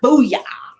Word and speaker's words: Boo-Yah: Boo-Yah.